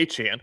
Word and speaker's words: Etienne: Travis Etien Aan where he says call me achan which is what you